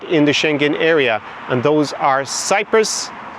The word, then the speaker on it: Schengen: Shenhen, hence the name normally use the pronunciation shenhen in English. You would hear lots of other variations in that pronunciation. However, Shenhen is the most common that we use.